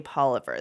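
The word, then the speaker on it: Poilievre: we pronounce it differently, Scott anglicizes it. I haven't really heard too many people say Poliver, though. I don't know. It's my understanding, I could be wrong, but that is kind of his family, and that's the way they pronounced it, because they're from Calgary, and then when he moved to Ottawa, he changed it to Polivier.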